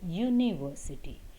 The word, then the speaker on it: university: sound not for letter the word university has letter u as the first word but the sound is yo university so she is an